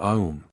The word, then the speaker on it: Aum: The sentence, Om Mani Padme Hum, is not a 6, but a 7-syllabled phrase, as the first syllable is double in its right pronunciation, and triple in its essence, a-um.